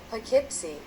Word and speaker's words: Poughkeepsie: Muy bien, ahora la siguiente ciudad, el siguiente ejemplo es este que, bueno, yo lo pronunciaría como Poughkeepsie o algo similar, pero veamos cómo lo pronunciaría alguien en Estados Unidos. Veamos. Poughkeepsie.